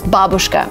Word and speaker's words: babushka: I don't know why, but a lot of English speakers say it this way when originally the word is babushka.